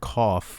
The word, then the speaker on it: cough: the word cough and in english the word cough we have that gh giving us an f sound okay so if we